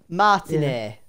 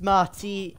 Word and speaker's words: Martinet: Oh, is that how you pronounce his name? Martinet. Yeah. Oh, I thought it was Martina something, I don't know.